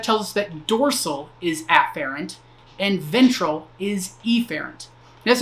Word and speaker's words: afferent: efferent with an E I tend to over pronounce the the first letter of that so afferent and efferent that's not how it's actually pronounced but that I feel